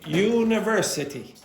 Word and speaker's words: university: University. So again, secondary stress on the first syllable and on the third syllable, you have the main stress.